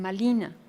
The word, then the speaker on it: Malina: En náhuatl la R no existe y la pronuncian como L o D. No dicen ser, dicen sed. No dicen Marina, dicen Malina. Marina se convierte en Malina.